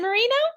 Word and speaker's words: Moreno: Is it Moreno? I should have asked you how to pronounce it all.